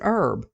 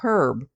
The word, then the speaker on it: herb: at the word herb I pronounce it herb not pronouncing the H but have heard other Americans say herb pronouncing the H before